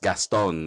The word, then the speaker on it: Gaston: name very French oh though here in the Philippines it's phonetically it's just gastone it's but I like